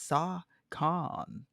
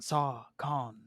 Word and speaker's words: SOHCON: They're like, "What is Saw Con?" And it's just the way it's spelled: SOHCON. It sounds like BlizzCon, like a convention. Saw Con, you know.